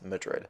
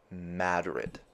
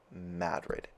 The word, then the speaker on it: Madrid: It's not Madrid like the place in Spain. It's Madrid. Madrid.